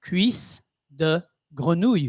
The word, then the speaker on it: cuisse de grenouille: I had some And how do you pronounce this, Terry? cuisse de Sweet- grenouille. Yes. Say that again, please. Cuisse de grenouille.